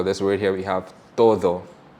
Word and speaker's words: todo: here, we have todo, but if I pronounce it with an English D to a Spanish R, it will sound like toro, T-O-R-O, which is a bull, right? So it's very important to pronounce your D's properly because toro and todo are 2 different words completely.